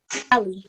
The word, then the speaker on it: Ali: Ali, like an alleyway.